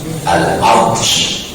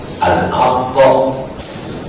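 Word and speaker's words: العطس: Kalau Bapak dan Ibu membacanya menggunakan sya titik 3, al-aqsh, al-aqsh pakai sya, itu artinya haus. Tapi kalau membacanya menggunakan sin tanpa titik 3, al-aqsh, al-aqsh itu artinya bersih.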